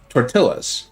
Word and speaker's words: tortilla: and the pronunciation is obviously tortilla. They know it. They don't mean any offense by it. They're doing their best. It's just in their language, two L's aren't pronounced by a Y.